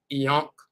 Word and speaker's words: ankh: We're talking about the word ankh. And this right here, this symbol right here is translated as ank. But also in the pyramid text, one of the variations of the dialectical dialectical variations is eon.